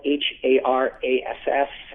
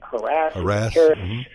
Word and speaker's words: harass: word spelled h-a-r-a-s-s uh there's always harass um the word the pronunciation harass is relatively new it came around in the middle of the last century and as recently as the mid 80s the usage panel was split uh 50 50 as to whether